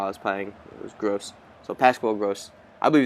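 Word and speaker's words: Groß: letter I don't and apparently that's like a SS or something like that like that's how you pronounce it so it's i believe it's gross and i actually heard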